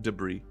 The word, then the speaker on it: Debris: Spelled like debris. S? Silent S. Silent S. Oh, debris. Yes.